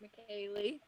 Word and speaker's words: McKaylee: That weird name right there is pronounced McKaylee. That's me.